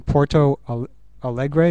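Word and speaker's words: Porto Alegre: uh thing uh that I first heard from Porto Al Allegre is that how you say it that's right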